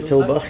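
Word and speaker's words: Tulbagh: Yeah, Savensburg wine's based in, do you pronounce it Tulbach? Like a Tulbach, yes.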